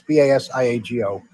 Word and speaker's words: Basiago: However, Andrew Basagio, and I think I'm pronouncing it right, it's Basiago, and he is a lawyer in Seattle, Washington.